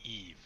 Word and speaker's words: Eve: It's not Eva. It's Eve.